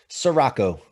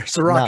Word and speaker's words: Ciorrocco: Ciorrocco. So it's not as hard as it's spelled here. Ciorrocco, no.